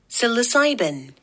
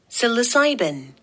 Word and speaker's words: psilocybin: P S P A P S I L O C Y I L O 지 I L O C Y B-I-N Psilocybin Psilocybin Psilocybin Psilocybin 환각물질이란다 Psilocybin They can Induce